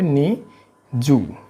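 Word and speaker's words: にじゅう: এইভাবে উচ্চারণের সিস্টেম হলো 2 এর পরে 10 যুক্ত করবেন, হ্যাঁ, তাহলেই হবে 20। এই হলো বিষয়। এই জন্য হবে এটার উচ্চারণ হবে নি জু, নিজু।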